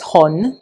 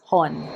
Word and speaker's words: Hon: And other people because they cannot pronounce Hon, they just spell out Ho N. But it's not an acronym. It is Hun.